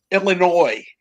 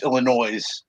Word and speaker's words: Illinois: an idiot who was raised in uh it's Illinois is the correct pronunciation but he has he has the uh the uh he he he chooses the white trash version which is Illinois oh S at the end